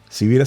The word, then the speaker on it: Sivira: es cira sivira se escribe con s de sonido con b de voz te invito a buscar